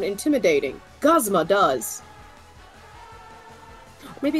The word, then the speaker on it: Guzma: the anime I'm like it's not guzma it is gosma guzma I've heard what